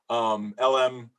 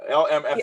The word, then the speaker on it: LMFAO: LMAFO. Whatever, how you say it? No, LMFAO.